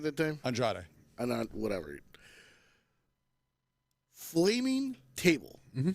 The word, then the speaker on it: Andrade: The match with Andre, right? Did I say it right that time? Andrade.